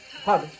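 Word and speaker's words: Har: h-a-r but it's pronounced hub honey it's kind of like a rolling r but it sounds like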